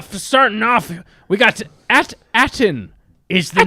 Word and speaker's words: At Attin: starting off we got at attin is the name of the planet it sounds like Aladdin it does kind of sound like Aladdin and it sounds like